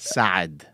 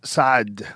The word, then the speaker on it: Saad: Because it's the guttural sound from Arabic. Oh, well, how would you say it? Saad. Saad. But since most Westerners couldn't pronounce that, you just do a double A.